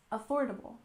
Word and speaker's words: affordable: we have affordable housing we stress the second syllable in affordable affordable and housing we stress